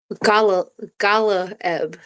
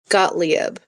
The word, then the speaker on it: Gottlieb: Sidney Go- Galaeb. Galaeb? Gottlieb.